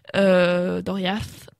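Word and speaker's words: Doriath: qui comprend le royaume de doriade je crois doria's si on le prononce à l'elfique comprend entre autres des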